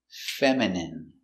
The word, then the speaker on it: feminine: M feminine. Feminine. Feminine. stress on the first syllable.